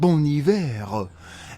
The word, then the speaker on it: Bon Iver: And whenever I talk about Bon Iver, I call him Bon Iver, because that's how it's spelled. And I always get people correcting me, say, actually, it's pronounced Bon Iver.